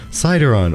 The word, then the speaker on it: Sydaron: of March 2022 with citizenship with our guests cideron or is he like sick so have I but every time he says he goes cideron or you can just call me every